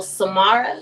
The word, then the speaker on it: Samara: All right, so Samara is how you say my first name.